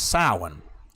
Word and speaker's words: Samhain: ago, Through the Doorway, where we thought we were pronouncing the word properly throughout the years, Samhain, but it's actually pronounced as Samhain.